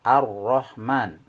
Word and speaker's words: Ar-Rahman: Cara pengucapannya, untuk yang berharokat fathah atau fathatain, maka bibir kita dimajukan ke depan membentuk huruf O, atau sebagai pendekatan mulut kita harus dimonyongkan. Ya, contoh Ar-Rahman, Khairon.